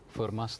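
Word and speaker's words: Fermat: us prove something called for Mass theorem forma's theorem was is also I believe we have done this um so it's a French name so we don't pronounce the T okay it's for Ma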